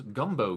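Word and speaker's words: Gumbeaux: A gumbo gator, and gumbo is spelled Gumb B E A U X.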